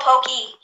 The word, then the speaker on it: Poke: Yeah, but it's pronounced Pokey. Yeah, it's called Pokey, actually.